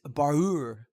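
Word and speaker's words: baar'ur: of the day is barur which is it means two things um there's two different spellings but the word is pronounced the same the first borrower which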